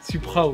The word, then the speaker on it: Supraw: Suprao, ouais. T'es sûr c'est Suprao? Ouais, S-U-P-R-A-W, donc ça fait Suprao.